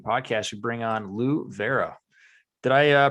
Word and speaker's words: Vairo: the hockey IQ podcast we bring on Lou Vera did I uh pronounce that properly Lou Vero yeah that everybody says barel it's not proper